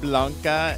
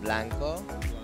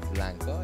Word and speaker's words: blanco: Blanca and negro. No, blanco. That's what I said. No. Say blanco y negro.